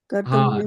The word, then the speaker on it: Kardama: Kartam. Kardama.